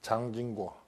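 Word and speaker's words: 蔣經國: 있습니다 타이완의 총통을 지냈던 장진고 중국말로는 장진거고 우리 식으로 발음하면 장경국입니다 장쯔석의 아들인데 총통으로 있을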